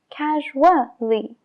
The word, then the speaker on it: casually: Y lo que pasa es que se juntan las dos y crean el sonido WA. Casually, visually, equally. Y por eso se pronuncia, porque forma una combinación con la vocal anterior.